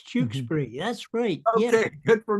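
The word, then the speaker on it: Tewkesbury: We'll forget once we're doing Did I say Chukesbury, right? Yes, Jukesbury. It's Jukesbury.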